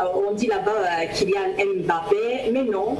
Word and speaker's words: Mbappé: On dit là-bas Mboma, voilà Kylian Mbappé, ça se prononce, on dit là-bas Kylian Mbappé, mais non, il y a un son MB chez nous qui veut dire Mbappé.